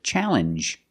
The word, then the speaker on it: challenge: This word too, challenge, makes the same sound. The regular N plus the J sound.